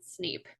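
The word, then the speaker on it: SN33P: name is SN 33p I pronounce it sneep that's not Factory protocol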